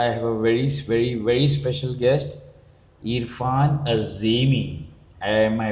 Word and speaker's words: Erfan Azimi: My name is Gundeep and today I have a very special guest, Erfan Azimi. Am I pronouncing it right? You do actually pronounce it right, yes, Erfan Azimi.